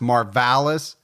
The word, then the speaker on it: Marvallous: Now, his name's actually pronounced Marvales, but Gibby and I have decided that for the whole episode, we're going to call him Marvelous just because we like it better.